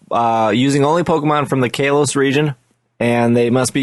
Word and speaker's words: Kalos: Although I think we're pronouncing that wrong, because I started watching the X and Y anime, and they pronounce it like Kalos or something like that.